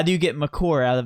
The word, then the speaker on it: Maker: How do you say Jiffy Lube? I get Jiffy, the way it's spelled. I'm telling you the way it's pronounced. J-I-F. Well, how do you get Makur out of Maker?